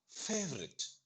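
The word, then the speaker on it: favorite: Third பாருங்க, அதே formula தான். ரெண்டாவது வவல் சவுண்ட நம்ம சொல்ல மாட்டோம். ஃபேவரட். சொல்லி பாருங்க, ஃபேவரட்.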